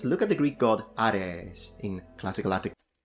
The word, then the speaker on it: Ares: For instance, look at the Greek god Ares in classical. I thought it was Aries. Apparently, I was wrong this whole time.